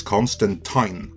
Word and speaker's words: Constantine: John Constantine, and yes, that is Constantine, I'm not saying it wrong, first officially appeared on the scene in 1985 in Alan Moore's seminal run on Swamp Thing.